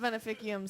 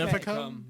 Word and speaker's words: Veneficum: I think we need a Veneficum song. Veneficium. Oh, Whatever. I did you it. guys sounds like winners. Oh, say it for me again. Veneficum. Veneficum. Okay. Veneficum? Veneficum. It's a hard C.